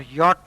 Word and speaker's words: yacht: is a port or yacht race why ACH T is pronounced as yacht it's a race regatta